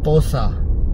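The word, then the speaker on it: Porsche: pronounce कैसे करते हैं so real way how Pasha is pronounced जज पोसा so when we came to know कि पशा को ऐसे प्रोनाउंस करना लाइक पोसा आई तो कमेंटेड की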